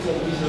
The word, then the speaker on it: television: But for the sake of today's lessons, we have to stress the first syllable.